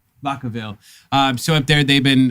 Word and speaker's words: Vacaville: Vacaville. Vacaville.